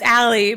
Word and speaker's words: Allea: So it's Allea, but it's spelled Allea.